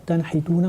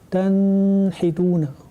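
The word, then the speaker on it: تنحتون: Donc sans aucune ambiguïté, on va dire tanhituna. On va pas dire tanhituna. Tanhituna, c'est la façon correcte de prononcer ce mot-là.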